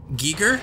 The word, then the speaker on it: Giger: HR Giger inspired me his name is pronounced of Giga geeker exit timer we got